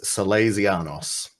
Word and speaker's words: Sálezianos: Teach me how to pronounce the name of the band, please. It is Salazanos.